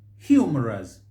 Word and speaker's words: humorous: The word is humorous. Humorous. Here, what you'll hear is humorous. Humorous. In the first pronunciation, you'll see that the stress is on the first syllable. Humorous. Humorous. But here you see humorous. Humorous. The stress is misplaced. And this is a word that if you mispronounce that syllable, you will always misspell it again.